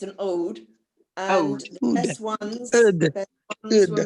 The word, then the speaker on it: oud: Yeah, it's an ode.